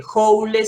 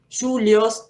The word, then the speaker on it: joule: Joule se escribe, joule se dice, julios también se suele decir, y se lo representa